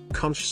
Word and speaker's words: conch: Conch salad. Conch salad, pronounced conch, is a staple of the Bahamian diet.